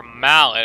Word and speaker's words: Mallet: And in case you didn't know, Malay Island, or Mallet as it should be called, because that's how it's spelled, like Mallet.